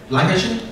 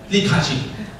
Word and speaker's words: Li Ka-shing: Lai Kai-shing? Yeah. Okay, for example, if today you see Lai Kai-shing, okay, go to, how do I pronounce it? Li Ka-shing.